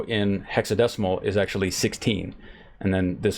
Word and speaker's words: hexadecimal: We mentioned that you can do hexadecimal, and I said it right this time instead of hexagesimal.